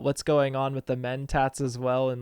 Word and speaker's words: Mentat: So, The Mentat, or is that how you say it?